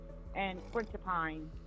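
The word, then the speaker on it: quetiapine: It's for anxiety, and she can be mood swings, fluoxetine, and quincepine.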